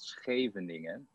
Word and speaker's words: Scheveningen: of this town and only the dutch can actually pronounce it correctly and if you if